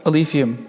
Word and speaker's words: Alephium: So let's talk about Alephium. Is that how I pronounce it?